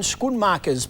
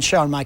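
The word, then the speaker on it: Schoenmakers: Now, it's been a year since Ryan Squidmarkers played in the top flight. Well, that's the pronunciation according to our Dutch floor manager, but Ryan showers is who I'm talking about.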